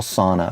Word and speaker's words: Sana: And in one of the incubators that we were speaking at, there's this girl, Sana, for the last year. Not sauna as in jacuzzi, but S-A-N-A.